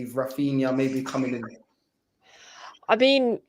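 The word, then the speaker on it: Raphinha: I would take Raphina.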